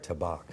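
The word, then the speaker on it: Tabac: Tabak. Tabak, yeah.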